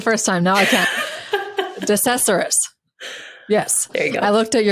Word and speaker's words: DeCesaris: DeCesaris.